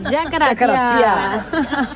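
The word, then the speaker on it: Yacaratiá: Estamos yendo por el sendero Yacaratea. Yacaratea. Así se pronuncia, Yacaratea.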